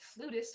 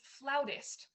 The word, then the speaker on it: flautist: flutist mama well darling if you pronounce it flutist everyone will laugh at you it's flautist oh it's okay no one